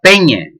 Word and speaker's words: peña: Bien, pues no dice exactamente la peña, pero bueno, dice, en realidad, y precisamente, estamos delante de este fenómeno que vos decía, porque en realidad pronuncia peñe, si vos dais cuenta. Bien, sería eso. Veis ya rasgos orientales. En realidad eso dice peñe más que peña, o sea, y